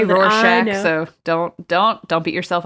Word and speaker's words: Rorschach: do have trouble pronouncing that word so correct pronunciation is Rorschach okay sometimes I Stumble so I would say Rorschach so don't don't beat yourself up about it